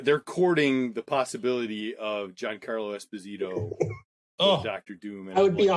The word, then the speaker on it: Giancarlo Esposito: let me get the name right because it's pronounced a certain way giancarlo esposito who plays oh wow in the mandalorian yeah